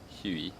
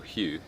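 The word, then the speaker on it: Huế: we are in uh Huey or Hugh as the locals like to pronounce it um it's very relaxed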